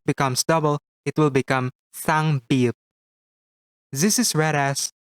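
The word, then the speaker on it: 싸: However, if it becomes double, it will become sang shiot. This is read as sa. To pronounce it correctly, prolong a little air for a bit as you speak.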